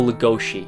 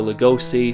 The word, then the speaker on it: Lugosi: movie is Lugosi or legoshi that's apparently the correct way of pronouncing his Hungarian last name but everyone calls him Baylor Lugosi so I'm just not